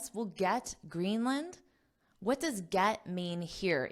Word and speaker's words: Greenland: what do you notice Greenland Greenland I'm not saying Greenland Greenland the word here is land but in English we have the concept of syllable stress so in this case green is the stress syllable so